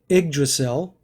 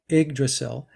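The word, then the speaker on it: Yggdrasil: uh it's pronounced the igdrasil but it's spelled y g g d r a s i l but pronounced IG the Y is an i igdrasil is the was the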